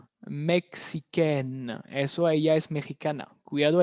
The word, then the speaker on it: mexicaine: Mexicaine. Mexicaine. Eso ella es mexicana. Cuidado el cambio de pronunciación. El sonido de la N se libera.